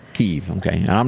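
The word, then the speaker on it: Kyiv: to pronounce it wrong you pronounce it kivy how do you do that k-y-i-v i think it's keeve keef okay and i'm not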